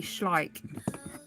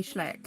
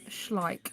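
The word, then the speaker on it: Schleich: It's actually schlike cuz I always say schlleck and I was like how does it how do you actually pronounce it? It's properly pronounced schlike as in like but with the so these are schlike.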